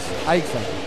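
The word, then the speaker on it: Aixa: Con X, ¿no? Se pronuncia la X, Aisha, así le dice.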